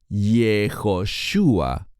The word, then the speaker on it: Yoshua: de especial Este joven llamado yoshua Así es exactamente como se pronuncia en hebreo yoshua Por qué está él